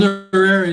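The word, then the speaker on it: Chizarira: Chisarira, am I pronouncing that correctly? Chisarira, yeah.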